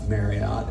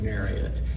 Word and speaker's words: Marriott: It's the same way with Marriott. It is not Elliot Marriott. It is Elliot Marriott.